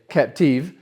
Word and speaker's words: Captive: This watch is called the Captive, or if you want to sound like you're an associate at a Cartier boutique in Paris, you could say Captive, which is the more French pronunciation of the word, but it still means the same thing.